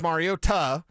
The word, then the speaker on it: Mariota: He said it was Mariota. Okay, well, if that's the way you pronounced it when you got drafted, like, why didn't you say that?